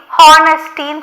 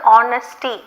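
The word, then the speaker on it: honesty: அது மாதிரி ஹானஸ்டின்னு சொல்லக்கூடாது, ஆனஸ்டி அப்படின்னு சொல்லுவோம். H is silent.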